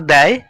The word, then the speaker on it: দেয়: সেখানে কিন্তু আঁকড়ি নেই প্রথম শব্দটির উচ্চারণ বলতে হবে দয় জ ফলা আকার এবং পরের শব্দটির উচ্চারণ করতে হবে দয় এ সেইজন্য আমরা প্রথম শব্দটিকে বলি দেয় এবং পরের শব্দটিকে বলি দে সহজ পাঠ দ্বিতীয় ভাগের থেকে